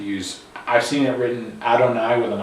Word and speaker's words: Adonai: It's pronounced Adonai, at least in modern times.